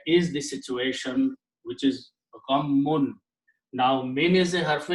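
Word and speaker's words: غمّ: Two shaddas, two memes with a shadda. Ghammun, we say gham. Okay, that is also the word in Urdu. We pronounce only one meme, gham. Actually, the full word is two memes.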